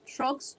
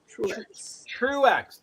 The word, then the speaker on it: Truex: so quickly whoa Brooks how you pronounce that trucks trucks oh Truex uh Martin Truex Jr Truex two syllables Truex okay what did